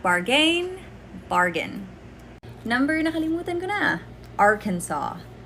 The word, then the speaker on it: Arkansas: not bargain bargain numbering arkansas arkansas not or kansas arkansas next one daiquiri daiquiri